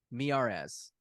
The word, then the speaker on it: Miyares: How do you pronounce his last Miares, name? Miares, Mirare. Miares, because he's cute. Miyares. He's Cuban. Miyares.